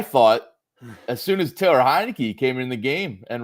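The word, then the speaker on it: Heinicke: and overtake Servo Sero it's pronounced hinei not Montana hinei oh I forgot I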